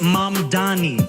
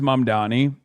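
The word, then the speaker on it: Mamdani: The The beauty of that last line, the name is Mum Donnie. Spell it out. you should learn how to say it is that the line doesn't actually end there.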